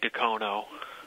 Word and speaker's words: Dacono: So technically it's Dacono, but a lot of people say an A at the end. So you can tell how long a person has lived in Dacono by how they pronounce that. If they say it with an A on the end, they've been around for a while. We just say Dacono with an O on the end of it.